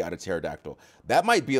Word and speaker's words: pterodactyl: Because the first part comes from Greek pteron, so which is just pteron, wing, which has a non-silent P before the T. That P has become silent in the English language because English speakers do not typically pronounce the PT combination.